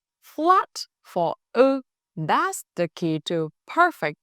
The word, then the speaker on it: ư: Now you can confidently pronounce the difference between u and ư. Remember three key things. First, u is made with round lips, like saying u. Second, ư is made with flat lips, almost closed.